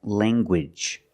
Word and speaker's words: language: angle let's look at more words where you have NG in the middle and you make the hard G sound like language you have the nasal sound and the hard G good language I have one language